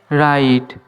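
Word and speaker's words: write: রাইট। রাইট মানে লেখা। এখানেও ডাব্লু সাইলেন্ট।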